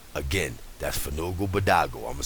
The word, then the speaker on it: Fanugalbadogal: should be in there remember Fugu badago pass the blunt pass the blunt Fugu badago it's spelled f a n u g a l b a d o g a l again that's Fogo badago I'mma spell it for you one more time